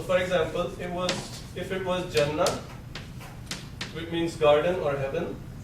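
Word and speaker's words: جنة: Because we don't pronounce circular ta. We don't call it Jannat. We call it Jannah.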